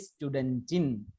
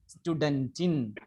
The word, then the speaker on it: Studentin: ഉച്ചാരണത്തിന്റെ വ്യത്യാസമുണ്ട്. സ്റ്റുഡന്റിൻ, the pronunciation is സ്റ്റുഡന്റിൻ. സ്റ്റുഡന്റിൻ, സ്റ്റുഡന്റിൻ.